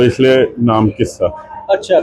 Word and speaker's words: QISA: तो इसलिए नाम किस्सा। अच्छा। तो ये जो किस्सा क्योंकि इसके जो उन्होंने स्पेलिंग्स चेक किए वो क्यू आई एस ए है। लेकिन अगर हम उसको पंजाबी में बोल तो किस्सा हो जाता है वो।